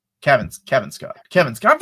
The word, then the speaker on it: Cavan: Kevin Kevin Scott. Kevin Scott. I've interviewed him. He told me how to pronounce it. It's Kev. He's like, it sounds like Kevin. So Kevin Scott.